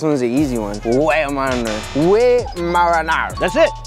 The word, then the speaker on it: Weimaraner: Weimaraner. That's it. He's doing a French accent, but it's Weimaraner.